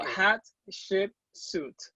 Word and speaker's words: Hatshepsut: if not i'm going to tell you to pronounce it so hot suit excellent yes it's great awesome how are you